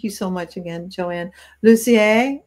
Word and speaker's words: Lussier: But thank you so much again, JoAnne Lussier, as I would say up here in Eastern Ontario, where we have a lot of French people.